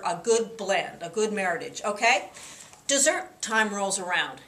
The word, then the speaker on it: Meritage: look for the word Meritage rhymes with Heritage that is a blend